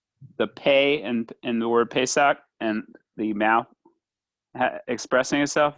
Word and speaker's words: Pesach: So the word Pesach, which we pronounce Pesach, but it's Pesach really.